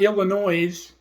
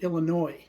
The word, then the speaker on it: Illinois: italian and it's not illinois with an s on the end it's illinois you don't pronounce the s so she's had to